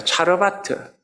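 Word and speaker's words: צרפת: 잘했다라고 합니다 사렵다라고 하는이 사르밧은 원으로는 뭐라고 읽히느냐면요 차르바타라고 읽힙니다 차르바트 이마트라는 뜻이 무슨 뜻이냐면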